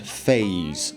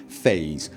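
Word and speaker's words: F4SE: 4 script extender or F4 SE pronounced phase I believe I believe that is what the team have decided they want to call it phase when will that come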